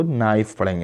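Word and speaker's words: knife: उसके बाद है नाइफ, नाइफ, कनाइफ नहीं होगा, ये के साइलेंट है, कनाइफ नहीं पढ़ेंगे इसको, नाइफ पढ़ेंगे।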